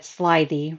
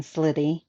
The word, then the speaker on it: slithy: see my phone and he said slythey rather than slitty like i said i don't know the